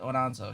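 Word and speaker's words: Aonso: on oh casey ayonso it's pronounced er her last name is a-o-n-s-o casey onanzo she's got like an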